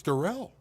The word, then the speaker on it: Daryl: struggle with speed and Daryl Stanley is the fastest kid Darrell it's Darrell how does how do you spell it it's spelled like Daryl but it is Darrell okay I saw Eric